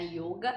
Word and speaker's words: yoga: yoga é em sânscrito essa pronúncia com o o fechado é yoga e escreve com Y